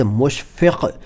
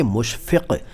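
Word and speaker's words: मुशफ़क: अब मुशफक अच्छा उच्चारण का खास ख्याल रखें क्योंकि अगर आपने नुक्त नहीं बोले तो भाई कुछ और बन जाएगा।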